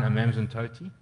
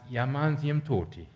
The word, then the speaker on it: Amanzimtoti: I think of a story I was told, and I'm sidetracking slightly, but do you guys know the town Amanzimtoti? It's actually pronounced Yamanzimtoti.